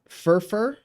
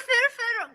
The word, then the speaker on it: firfir: Furfur, Gomen, or Awazi. Oh, Firfir. Oh, Firfir, Gomen, or Awazi. That's how you say Firfir, Okay.